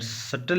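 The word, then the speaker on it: subtle: की कोशिश करेंगे तो यहां पर सटल लिखा हुआ है ना यहां पर भी साइलेंट होगा सटल दिखाओ इसका मतलब है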